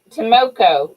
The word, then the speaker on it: Tomoko: Tomoko. That's what it is. Tomoko Enterprise. Tomoko. Yeah, I knew I was pronouncing it wrong.